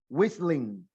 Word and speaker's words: whistling: Haz un sonido de whiz y luego le pones ling. Whistling.